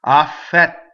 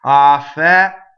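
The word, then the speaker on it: affetto: So now, I ask you, do we do two T's when we do a double T? The answer is no, right? We do one T. If we did two T's, it would sound funny. Affɛtto. Oh, I can't do it. Affɛtto, right? Something like that. Two T's. Affɛtto. We just go up to it and don't say it. The space makes the double T.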